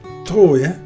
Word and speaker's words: Troyes: And we continue towards Troyes. Only you pronounce it Trois. At least the French do.